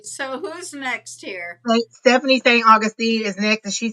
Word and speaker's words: St. Augustine: St. Augustine. Saint I kept saying St. Augustus too. It's St. Augustine.